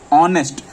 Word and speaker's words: honest: You should fill an, because when you will pronunciate the name honest, it will be like aw, like how you write on WhatsApp, AWW. It's like aw baby, aw, like that. Okay, aw.